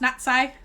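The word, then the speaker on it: Natsai: okay so um yeah it's pronounced natti she's natti on I but I call her Natty because that's what everyone else calls her so some of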